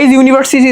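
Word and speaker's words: university: ইউনিভার্সিটি student আমি কিন্তু ইউনিভার্সিটি student এই কষেত্রে আমি ইউনিভার্সিটির আগে কিন্তু কি বসাইতে পারতেছি বলতো আমি ইউনিভার্সিটি কিন্তু এ বসাবো কারণ ইউ এর উচ্চারণ ইউ এর মত ইউনিভার্সিটি ইউ ঠিক আছে তাহলে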